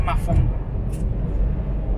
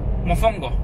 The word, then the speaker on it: mofongo: Ahora vamos a la casa de la cuñada de Luis, porque nos invitó de último minuto a comer mafongo. Mofongo, no mafongo. Mafongo no, perdón.